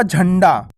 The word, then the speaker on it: झंडा: मात्रा लगा दी तो इसका उच्चारण कैसे होगा झंडा आधा का उच्चारण हो रहा है ना झंडा अब आप झंडे को